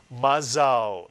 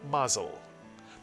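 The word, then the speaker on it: מזל: is simple, ma, mitsuyan, and now the second syllable that begins with the new letter zayin. Zal is correct, put the word together. Mazal, mitsuyan, mazal. By the way, in Yiddish the word is mazel, but in Hebrew it is mazal.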